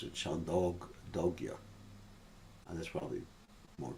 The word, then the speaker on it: Chandogya: Some people pronounce it Chandogya, and that's probably more correct. Chandogya, dog, like almost like dog.